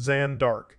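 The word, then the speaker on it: Jeanne d'Arc: foreign French Jean dark pronounced zanark c1412 30 May 1431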